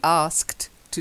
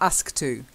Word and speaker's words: asked to: something or to be asked to do something. So you've got to get that asked to. You've got to have the two separate, not ask to.